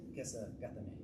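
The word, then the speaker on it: Kesa-gatame: This is Kessa Gatame, or like my Japanese friends, Kessa Gatame. That's what he said. I was like, I wanted him to help me pronounce it. Like, that's how you pronounce it.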